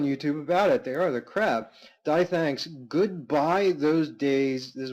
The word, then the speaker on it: DTH: Second, there was a post by DTH, pronounced Thanks, titled, No one raids for guns.